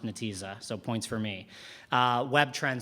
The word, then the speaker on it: Netezza: I do know that it's pronounced Netezza, so points for me.